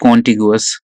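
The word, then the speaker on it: contiguous: Next देखो, कंटिगुअस। कंटिगुअस, और यू can pronounce it like कॉन्टिगुअस।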